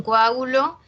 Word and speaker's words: coágulo: En coágulo, separamos la O y la A, ¿ya? No es coágulo, coágulo con U no es.